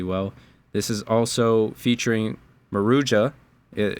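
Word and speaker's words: Maruja: This is also featuring Marua. it it's pronounced Marua.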